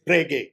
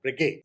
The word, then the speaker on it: Breguet: UK, they tend to pronounce the initial portion with a greater stress. So they would say Bre-GAY. The gay almost comes down, whereas the French want to maintain that volume, loudness in all the syllables.